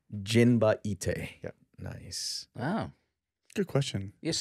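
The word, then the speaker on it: Jinba Ittai: It's Jinba Ite. Jinba Ite.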